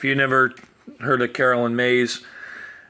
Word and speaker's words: Myss: If you never heard of Carolyn Mays, it's Carolyn and then like Caroline, like Sweet Caroline, and then Mays is spelled Myss.